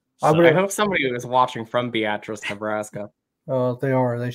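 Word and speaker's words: Beatrice: was the small pronounced yeah yeah it's really pronounced beatric so yeah I would have went beus I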